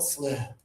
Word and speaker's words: slip: First one here, high tongue, little bit of air here, just a little. Let's hear sleep. Good, and low tongue and breathe. Slip.